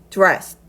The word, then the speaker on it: dressed: dress까지는 똑같이 가지고 이 ed는요. 드라고 정확하게 발음하는 것이 아니라 dressed, dressed. 물론 드 발음이 들리긴 하지만 정확하게 드보단 약간 흐릿하게 끝부분을 흐려서 dressed, dressed 이렇게 발음을 해주셔야 됩니다.